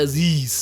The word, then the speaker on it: Aziz: You said it right after the end when you said Aziz. Aziz.